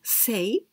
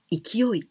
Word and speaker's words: 勢: And the second one, here we pronounce sei, but we can also pronounce ikioi.